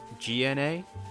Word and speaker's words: Mignogna: It's Mignogna. Sounds like Mignogna. Mignona, or something like that. Because Basically, mignon, with filet mignon is yeah. similar, isn't it?